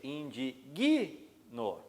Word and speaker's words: indigno: aqui eu tenho problema muitas pessoas dizem eu me indigno mas se eu disser eu me indigno a sílaba tônica vai recair sobre uma consoante que eu ver eu